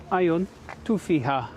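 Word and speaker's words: Għajn Tuffieħa: Għajn Tuffieha, learning how to say it in Maltese.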